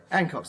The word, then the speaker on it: Hancock: Hancock's the name. H-A-N-C-H-O-C-K. The H is pronounced, and anybody who says it ain't is ignorant.